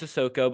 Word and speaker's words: Sissoko: It was a lot of Carson Cooper in that game over Maddie Sissoko. Sissoko. Jeez, I know it's Sissoko, but I can never pronounce that.